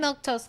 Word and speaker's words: Milquetoast: But I'm Milktoast. That's how you say my name.